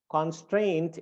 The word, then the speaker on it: constraint: and then strained and the one that is stressed is strained and uh and uh